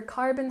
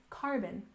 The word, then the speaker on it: carbon: we have carbon emissions remember carbon has the stress on the first syllable carbon carbon emissions has stress